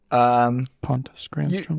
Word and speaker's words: Pontus Granström: To give a little bit of background, I know that, Pontus Granstrom, did I pronounce that correctly? Pontus Granstrom.